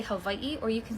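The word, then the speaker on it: Hawaiʻi: You being annoyed at people wanting to say havi correctly just reflects the expectation that our language and culture should be simplified, mispronounced, or erased for your white comfort.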